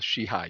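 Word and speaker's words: Sheehy: my name is SH2EHY, which could be She-He or She-Hi. And it's typically pronounced in the Irish pronunciation as She-He. It was O She-He, but somewhere down in the annals of time, in our family got kind of a She-Hi.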